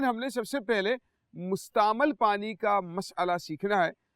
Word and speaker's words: مستعمل: کا بیان، ٹھیک ہے، یعنی مستعمل نہیں ہے بلکہ اس کا تلفظ کیا ہے؟ مستعمل۔ ذرا مل کر بولیں گے، کیا ہے؟ مستعمل۔ ہاں، میم کے اوپر کیا ہے؟ زبر۔ مستعمل نہیں ہے، یعنی میم کے نیچے زیر نہیں ہے بلکہ میم کے اوپر